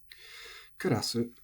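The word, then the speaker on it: カセット: do on the round kasset is uh tamaka it is head high and I did not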